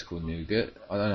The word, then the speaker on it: Nougat: Android system to nougat I think it's cool nougat I learn how to pronounce it n o ug a te nougat